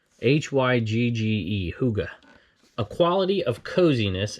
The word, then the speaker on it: hygge: Here's the definition, but listen to the pronunciation here. Hygge. Hygge. H-Y-G-G-E.